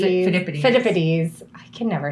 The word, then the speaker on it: Phidippides: Jeff has his own store, Philippides. Phidippides.